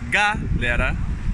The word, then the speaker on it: galera: Galera, the stress in this word is not in the first syllable. Galera. It is not in the third syllable. Galera is in the second syllable.